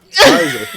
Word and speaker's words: Pfizer: Pfizer. The P is silent, brother.